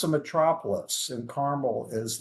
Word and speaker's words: Carmel: you know your way around here because you pronounce it correctly, Carmel. Oh, did I? Car- No, that was just by chance. Yeah, people. I'll take it. mistakenly I'll take it. call Carmel, and even Uh, there have been people who've